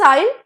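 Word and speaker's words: isle: नहीं करना चाहता okay second इज आइल आई एस एल ई आइल जिसका इट्स अ इट्स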